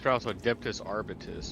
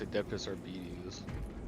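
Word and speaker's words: Adeptus Arbites: targets and commence firing so that's how you pronounce it I always thought it was adus arbitus or something but apparently it's adeptus Arbus interesting M we learn so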